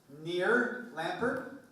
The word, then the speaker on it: Nir Lempert: So, to round out the day, I'm pleased to introduce Nir Lempert.